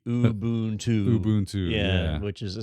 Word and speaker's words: Ubuntu: I don't say Ubuntu right, but it's supposed to be Ubuntu.